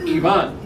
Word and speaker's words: Ivan: leagues, we were told, and it's in our guide to call him Yvonne. Which of you speak Spanish? That's how you say it.